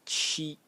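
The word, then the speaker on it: 七: The next character is character that represents number 7, pronounced chi, chi in the first tone, and again it's a phonetic loan.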